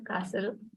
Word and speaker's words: castle: second word is yeah Castle okay so I think a large Strong building built in the past by a ruler all right so the t is silent right that's it right now